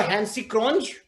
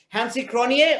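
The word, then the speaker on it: Hansi Cronje: like i'll tell you do you remember hansi crunch or nikki boge sorry sorry it's hansi cronier or nikki boyer the same thing happened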